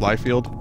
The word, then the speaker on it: Liefeld: America robbed Life Field is it pronounced it's pronounced life field I have studied that